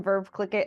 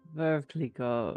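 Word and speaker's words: Veuve Clicquot: Starts with some verve click it, and then we'll just like move through some darker stuff. Oh, Verve Clico is I think you pronounced the hard T.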